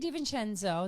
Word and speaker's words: DeVincenzo: I'm on the Show with Renee DeVincenzo. Now, she says it DeVincenzo, but I know the proper pronunciation.